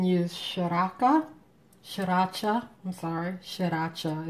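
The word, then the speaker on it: Sriracha: Shaka shacha I'm sorry shacha is really three syllables but I'm going to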